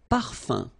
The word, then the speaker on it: parfum: Un parfum. So remember, even if you've got this UM like that, phonetically it's exactly the same thing as if you would have UN. So it's nasal and it's un. So it really goes in your nose. You don't pronounce the M at all.